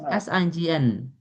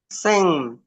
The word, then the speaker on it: sign: How do you pronounce s i g n? Sing.